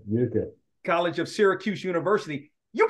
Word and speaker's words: Utica: Yeah, At what it's pronounced. I want to make sure I say it right. It's Utica Utica, that's right, Utica.